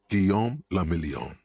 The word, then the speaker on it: Guillaume le Million: Guillaume le Million. If it doesn't rhyme, you're not pronouncing it right.